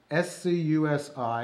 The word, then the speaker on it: scusi: use all the time the first word is scusi scusi s-c-u-s-i is pronounced scusi in italian means excuse me and